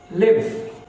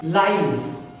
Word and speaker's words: live: अगर ये वर्ब है तो इसका प्रोनाउंसिएशन होगा लिव। अगर ये एडजेक्टिव और एडवर्ब है तो इसका प्रोनाउंसिएशन हो जाएगा लाइव।